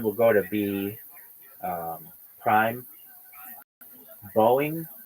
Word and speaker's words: Boeing: Boeing will just be Boeing, just Boeing, one syllable. Boeing, like Boeing, Boeing, Boeing, Boeing, Boeing. But that's how some people say it anyway. And I have a friend of mine. He's from South Africa. Really quickly, like Boeing, Boeing, Boeing, and I and so instead of making it two syllables, just having it be one syllable is really important for a company.